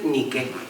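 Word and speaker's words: Νίκη: que es muy bonito la diosa Victoria en griego se dice ni que ni que es Victoria en griego ni que es la marca deportiva que todos decimos na porque la pronunciamos en inglés pero es ni yo siempre ni bien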